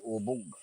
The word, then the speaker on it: ubog: Pronunciation niya ubog. Hindi. Yan. Ubod? Hindi, ubog. Ako ang matanda.